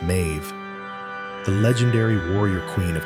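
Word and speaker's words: Medb: Scholars connect her name to Meb, pronounced Mave, the legendary warrior queen of Kanod, famed in the Tinbo Quaila.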